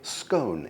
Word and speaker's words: scone: And by the way, I use the Scottish pronunciation scone, although you can certainly say scone if you wish.